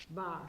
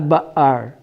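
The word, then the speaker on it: בר: Bar. Bar. No? Bar, Bar. not ba'ar. There's no there. Yeah. It's just bar.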